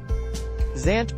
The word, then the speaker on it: Zant: of Twilight smash ultimate Zant pronounced Van Zant is one of two